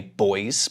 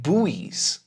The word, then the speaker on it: buoys: In British English, we say /bɔɪz/, but in American English we say /buwiːz/, /buwiːz/, okay? So, it's up to you which one you prefer. Neither one is better, but /bɔɪz/ is a little bit quicker, British English.